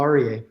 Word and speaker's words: Aryeh: share it with us you said it perfectly Paul arier okay great so you